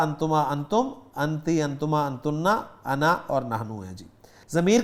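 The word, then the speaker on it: أنا: تو انا کا تلفظ میں نے کر ہی دیا جی, الف نہیں پڑھا جائے گا, انا ہی پڑھیں گے اس کو.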